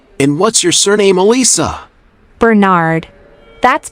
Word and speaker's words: Bernard: your first name Elisa Alisa how do you spell that a-l-i-s-a thanks and what's your surname Elisa Bernard that's b e r n a r d fine how old are you I'm 22.